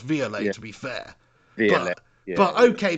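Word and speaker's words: Viollet: Rowley and Dennis violet okay and it's actually pronounced via later to be fair yeah okay they're going back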